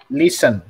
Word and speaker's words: listen: Nah, listen. Jadi enggak t-nya enggak dibaca.